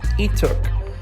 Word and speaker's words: Leeteuk: I was gonna assume Lei just by looking at it. One of the most common last names in Korea is Lee, but similar to how this looks, the Korean pronunciation drops the L and it's Leeteuk. The same way how the last name is really said in Korea.